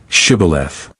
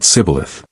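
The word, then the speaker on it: Shibboleth: say Shibth. But the Ephromites could not pronounce it properly. They said Cibilith.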